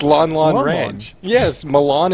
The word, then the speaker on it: Lon Lon: Lunlun Ranch? Lunlun. It's Lon Lon Lon Lon.